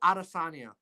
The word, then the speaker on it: Adesanya: It's Israel Adesanya.